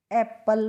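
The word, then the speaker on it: apple: तो इसको एप्पल पढ़ते हैं।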